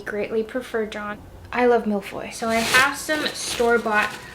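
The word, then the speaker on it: mille-feuille: on to our third treat I'm making some miloy I had to double check the pronunciation on that my French dual lingo has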